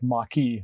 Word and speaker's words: Mach-E: a maki can the mock e i say it like maki sometimes but the mock e